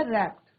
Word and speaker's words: wrapped: यहाँ पे बच्चों डब्ल्यू साइलेंट रहेगा, रैप्ड, लपेटा, and rocked her इन the rocking chair.